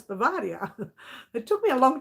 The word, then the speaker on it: Bavaria: moda vera bavaria i used to call it beaver deer it's not it's bavaria it took me a long time you know